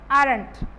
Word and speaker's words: aren't: O is silent in this feature, aren't.